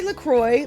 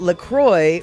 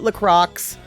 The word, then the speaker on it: LaCroix: lacroix no we say lacroix like in it's lacroix has made it clear that lacroix rhymes with enjoy um seriously the company